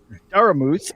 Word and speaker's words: Daramouthe: It's like, oh, is that Daramouthe? It's like, it's a silent E at the end.